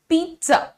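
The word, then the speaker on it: pizza: आपको क्या करना है पहले बोलना है पीट फिर बोलना है ज सो पीज पिज़्ज़ नाउ हाउ हाउ एम I doing it look at my face here so you have to से पीत ट पे ट पे जबान आगे दांत को टच कर रही है से इट विद मी पीत ज ज ट और ज बिल्कुल साथ में निकल रहा है ज ज बोले ठीक है वाउ यू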